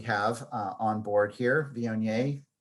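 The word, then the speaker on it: Viognier: uh on board here vionier rhymes with may you can drink it every damn day uh the lines from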